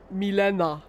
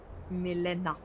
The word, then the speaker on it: Milena: Also, mein Name Milena kommt ja aus dem Polnischen und wird eigentlich ausgesprochen Milena. Milena.